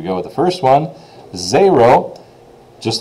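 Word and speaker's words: zéro: spelling of that will be zero now the pronunciation is what you really need to worry about for the quiz which is zero as I already said zero the um quiz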